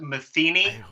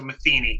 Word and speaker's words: Matheny: really well it's pronounced Matheny but I think it's the most it's the most common mistake and mispronunciation of the world you have to think of like Pat Metheny the the famous jazz